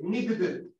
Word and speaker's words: needed: ¿Por qué se pronuncia así? Porque no puedo pronunciar una doble D. Needed.